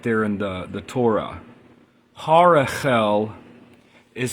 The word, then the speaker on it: Harahel: there instead of the second H so the pronunciation is Harel so the second H in Harel um is